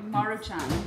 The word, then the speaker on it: Maruchan: We're gonna go Funyun, the Manchurian. How do you say it? Manchurian? Maruchan? Maruchan.